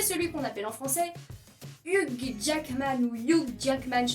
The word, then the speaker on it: Hugh: C'est qu'en France, on ne sait pas que dans le pronom Hugh, le G et le H sont silencieux. Du coup, ça se prononce Hugh Jackman. Hugh. Vraiment H-U, Hugh.